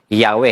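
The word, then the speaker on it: Yahweh: ng mga Bible scholars agree na ang bigkas ng YHW ay Yahwe.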